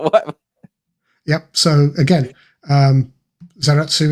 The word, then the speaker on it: Zaratsu: So, again, um Zeratu is a Japanese bastardization of the original polishing machine name.